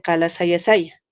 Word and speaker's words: Kalasasaya: Más bien yo creo que lo que era antes, como el hermano dice, Kalasayasaya. Después, como no podía pronunciar, la ha puesto Kalasasaya, ¿no?